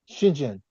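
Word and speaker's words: Xidian: Well, I tried to look up how they pronounce that and you'd be surprised, but it's pronounced Shinjzhen.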